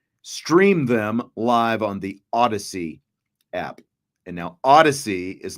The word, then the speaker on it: Audacy: you can also stream them live on the Odyssey app. And now Odyssey is not spelled like Homer's Odyssey.